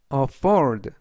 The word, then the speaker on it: afford: 여행을 권했다라는 뜻이 되겠습니다 이번 단어는 afford afford afford라고 발음하시면 되겠고요 이때 강세는의 강세가 있습니다 품사는 동사 뜻은 여유가 되다